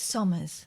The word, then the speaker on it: Somers: So it's Somers. Probably the best mannered thing we could do. Somers Waste Solutions.